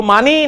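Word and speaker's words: معنى: असल इसकी प्रोनाउंसिएशन है जी माना।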